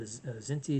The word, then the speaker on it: Kzinti: There's a race called the Zinti. It's spelled KZINTI.